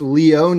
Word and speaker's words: Leone: anthony letting me know it is pronounced leone he's italian i apologize for messing